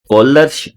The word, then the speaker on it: Kohlrausch: ਇਹਦੇ ਅੰਦਰ जो H साइलेंट है, कॉलर्स लॉ, कॉलर्स लॉ of independent migration of आयन।